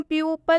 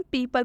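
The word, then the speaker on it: people: silent हो गया है इसे हम प्यू पल नहीं पढ़ने इसे हम पीपल पढ़ रहे हैं क्यों क्योंकि इसमें ओ जो है वो साइलेंट है ओ का उच्चारण नहीं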